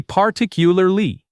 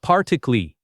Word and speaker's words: particularly: This long word gets shortened badly by many speakers. It should be particularly with all its syllables, not particly.